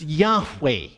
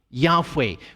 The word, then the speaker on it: Yahweh: But most scholars think today that, in fact, the name should be pronounced Yahweh. Yahweh, with just the 2 vowels added to the 4 letters.